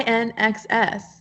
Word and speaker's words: INXS: is it did you say INXS yeah I an excess I know the song never tear us apart